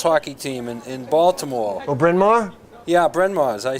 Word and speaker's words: Bryn Mawr: Brian Ma had the first girls hockey team in Baltimore. Oh, Bryn Mawr?